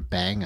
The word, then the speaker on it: bang: are special computer characters those are a bang and a splat um that's how they're pronounced and uh so that's